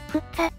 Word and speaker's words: 福生: たんだね実際に地元の古老は福生のことを振っちゃっふっさと発音するらしくこの説は有力